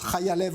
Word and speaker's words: Chaya Lev: Ça s'écrit Chaya Lev, mais ça se prononce Chaya Lev en hébreu, évidemment, parce que vous êtes ce qu'on appelle une influenceuse aussi sur les réseaux sociaux.